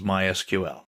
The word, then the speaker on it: MySQL: so what is MySQL well it's a version of SQL we'll talk about that in a minute people in the know don't say MySQL they say my SQL that's generally how it's pronounced in SQL is usually